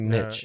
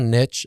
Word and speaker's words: niche: it i don't like niche yeah i always hear niche apparently that's the american pronunciation i say niche yeah that's the frenchie it's a french word